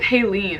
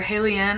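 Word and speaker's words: Haliene: And then we have Halene, or Halene. I've heard it pronounced both ways, so I'm not sure.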